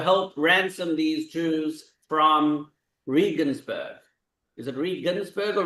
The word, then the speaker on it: Regensburg: Can we obligate other communities in the empire to pay to help ransom these Jews from Regensburg? Is it Regensburg or Reinsburg? Regensburg.